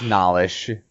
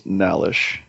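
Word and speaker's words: Nhallish: I can't pronounce it. I don't know how an H right after an N losing subscribers, man. Losing subscribers. I think that would be pronounced Nalish. Yeah, I liked him, and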